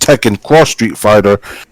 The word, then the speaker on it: Tekken X Street Fighter: is it even though the title is pronounced Tech and cross street fighter it was displayed as Tekken X Street Fighter well I'm trying to